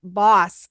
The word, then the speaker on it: Bos: So it is B-O-S, but pronounced Boss.